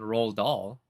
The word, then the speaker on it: Roald Dahl: probably needs no introduction roll doll spelled the same way as this guy's name and d-a-h-l his last name a lot of classics